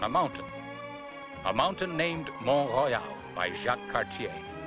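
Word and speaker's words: Mont Royal: mountain a mountain named mon Royale by Jac Cartier Montreal is the English pronunciation of mon Royal it's the second largest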